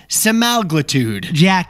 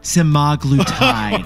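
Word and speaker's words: semaglutide: the next one was The crucial OIC ingredient seude Jack you mean sagl tide sagl tide and finally who could forget this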